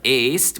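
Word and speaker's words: ēst: Now, you must keep in mind that est is not the same thing as est, which is confusing because est means is, but est with a long e means eats.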